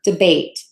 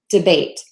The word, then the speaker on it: debate: you're asking about is debate so syllable one is going to be the shorter syllable and the level two is going to be longer debate debate just a quick tip